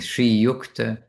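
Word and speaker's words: श्रीयुक्ता: respectful respectful address and it will in this case it'll be with a long a at the end for a lady.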